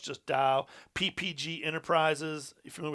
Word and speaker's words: Dow: company dupont demours uh dupont do nemours properly pronounced dao it used to be dial chemical now it's just dao ppg enterprises are you familiar with some of